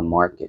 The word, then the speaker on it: market: Cái từ này có trọng âm dầm đầu tiên mình sẽ đọc là market, stock market.